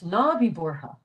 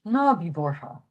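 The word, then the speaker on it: Ná bí buartha: And this is another example of where the TH is not pronounced the. In this case, it's just H. Nabi Borha.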